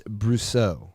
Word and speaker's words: Brousseau: And she says it's French, and it's Brousseau.